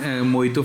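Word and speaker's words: mojito: नहीं पढ़ते ना इसको जो जे होता है वो साइलेंट होता है क्या बोलोगे मोहित हे वन मोइतो फॉर मी बोलो हे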